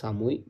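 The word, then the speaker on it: 寒い: নাম্বারের উত্তর হচ্ছে সামুই এই কাঞ্জিটার উচ্চারণ হচ্ছে সামুই নয় নাম্বারের উত্তর হচ্ছে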